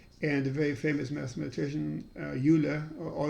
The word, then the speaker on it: Euler: generate prime numbers and a very famous mathematician euler or euler depending how you pronounce it um it's actually pronounced euler but most people now say euler so he came up with a polynomial n squared minus n plus 41.